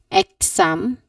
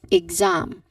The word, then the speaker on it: exam: an X sound, but the tip here, it should be ig. Ig. There's no X pronunciation, or there's no X sound there. Unlike how it looks like there's an X, but yeah, when you pronounce it, there should not be an X sound here. So you should not say it as exam, but you say it as exam.